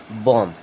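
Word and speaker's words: bomb: इसे क्या पढ़ेंगे क्लाइम बी ओ एम बीय क्या क्या लिखा है बम नहीं इसे पढ़ेंगे बम क्या पढ़ेंगे बॉम चलिए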